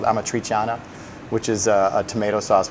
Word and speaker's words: amatriciana: But airy and puffy, and then it's served on top of a sauce called amatriciana, which is a tomato sauce with bacon in it.